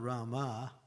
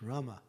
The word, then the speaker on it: Rama: So it's not Rama, it's Rama. You see the difference? Rama, Rama.